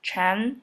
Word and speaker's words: Chan: during the 6th century it pronounces chan in chinese it was then introduced